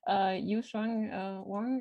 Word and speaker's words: Yusheng Wang: Yusheng Wang, and I'm sorry if I mispronounced your name. Yeah, yes, the pronunciation is right.